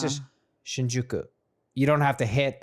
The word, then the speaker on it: Shinjuku: the there's like so I stayed in shinuk so they were trying I'm trying to pronounce it right Shinjuku okay I guess the